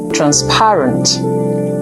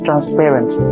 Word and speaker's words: transparent: How about this word transparent? Most Nigerian speakers would say transparent, and there's no such word as transparent. It is transparent.